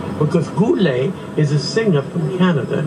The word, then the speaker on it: Goelet: The name is Goelet. Goelet. Pronounced, because Goelet is a singer from Canada, yes. A French-Canadian, spelt differently, G-O-U, Goo. This is G-O-E, like go, stop and go, Goelet.